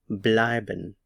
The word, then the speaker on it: bleiben: stay or to remain the stress is on the EI here or the diff thong blin blin blin we've been